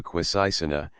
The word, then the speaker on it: Quisisana: known throughout the town where they pronounced it with a very soft s and a very broad a Christian button Brook as Senator J's best friend had obtained entry into quisisana and been successful there